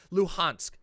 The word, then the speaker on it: Luhansk: is it said luhansk luhansk there we go luhansk thank you sorry i always mess up the pronunciation on that the donetsk and luhansk regions